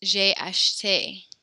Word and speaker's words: j'ai acheté: One little tiny thing, when there's an accent on that last E, we actually do pronounce it. So it's j'ai acheté.